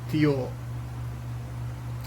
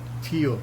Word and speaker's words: tiyo: and either capated so although we pronounce pronounce it as tio but the millennials or the from manila always speak and pronounce it as theo for shortened for chewing so